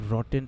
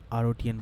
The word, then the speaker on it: Rotten: themselves really really well pronounced rotten instead of our OTN by the way of you oh thanks Robin it's rotten I didn't know that